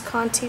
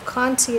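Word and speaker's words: Conté: generals charcoal um or Cony you can use coni too so Conti is spelled c o n te and Conti is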